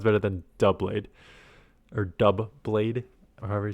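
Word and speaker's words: Doublade: Someone says um I keep calling it Dlade and someone says it's pronounced oh where is that? forget what that comment was. Like double like duh blade because there's two blades like double the blades.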